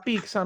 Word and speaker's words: pizza: pronunciar y es porque la pizza Normalmente se pronuncia y toda la doble Z como algo así fíjense como yo se los